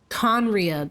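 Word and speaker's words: Khaenri'ah: Conria, that's how it's pronounced.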